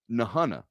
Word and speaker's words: Nahunta: not from black sheer he's from nahanna or nahunta nahana it's spelled in a h it's pronounced per kirby smart south georgia legend um nahanna now i've never been in the hana no